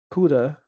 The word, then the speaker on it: CUDA: Next, I installed Nvidia um CUDA. That's how you pronounce it.